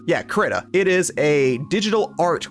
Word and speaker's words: Krita: So what I was referring to earlier is a little program called Krita, or Krata, or Krata? I don't know. I call it Krita. I don't know if that's the proper way to pronounce it. Yeah, Krita.